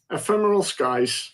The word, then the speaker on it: Ephemeral Skies: I need to Ephemeral pronounce it good. Skies. Ephemeral Skies.